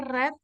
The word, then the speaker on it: read: Cara bacanya red tapi tulisannya sama. Read ya.